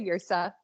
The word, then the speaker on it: Yrsa: And is it Yrsa? Is that how you? Yeah, that's how I pronounce it. I honestly looked up Viking women's names, and that one was a very strong name. And then I thought, I can't really pronounce it. But, sometimes I do that too. I just say Yrsa.